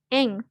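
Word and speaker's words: 円: kayak gini artinya ini ini dibacanya Eng Eng nah ini tuh artinya Yeng Yen yennya ini mata uang-uang Jepang gitu nah mereka tuh yennya nggak kan kalau di kita kan bacanya Yen Ya tapi kalau mereka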